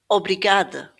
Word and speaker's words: obrigada: So, obrigada obrigada cama cama So, we're not hearing obrigada or cama. We're stressing this in the right place, and the A sound is more of an uh at the end.